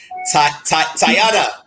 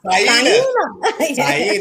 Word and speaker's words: Taina: Tayana. Am I saying it right? Taina. I was close.